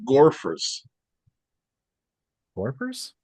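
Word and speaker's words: Gorephers: to this gentleman yesterday gorer warpers yeah how do you spell that g o r e p h e r s oh like gopher but Gore yeah I'm gonna have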